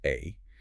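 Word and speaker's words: 愛: In Japanese, the kanji character for love, which is pronounced A, is written with exactly 13 strokes.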